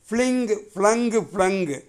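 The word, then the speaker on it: flung: ஃப்ளங்கு. ஆயுத எழுத்து அங்கே ஆயுத எழுத்து கொடுக்கப்பட்டு பக்கத்தில் இப்பு இருக்குது. அப்போ அதை இஃப்னு கீழ் உதட்டு மேல் பல்லில் மோதாமல் அப்படி உச்சரிக்கணும். ஃப்ளங்கு.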